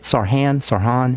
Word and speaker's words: Sarhan: All right, Sarhan. Is that how you say it? Sarhan in Virginia? What's up, Sarhan? Yeah, that's correct.